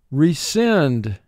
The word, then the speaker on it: rescind: Rescind. Rescind. Unfortunately, we will have to rescind payment. Rescind. Two syllables. First syllable, re, two sounds. R, E. Send. Four sounds. S, I, N, D.